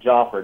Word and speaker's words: Jafar: It's Jafar, Jafar.